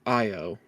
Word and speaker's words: Io: we've been able to ascertain that 2399 struck IO I realize that's how it's pronounced was damaged and was unable to escape